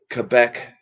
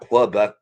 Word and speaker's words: Quebec: in a different country Quebec Canada not clubbuck it's Quebec why why did people